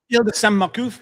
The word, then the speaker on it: Îles de Sainte-Marcouf: You'll have to correct me on pronunciation. Îles de Sainte-Marcouf, is that right? Îles de Sainte-Marcouf, oui.